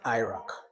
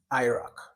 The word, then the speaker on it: AIRAC: an approach there is a method called the Iraq. Iraq is the initials of a whole system. Now, Iraq is spelled A I R A C. A I R A C. Iraq.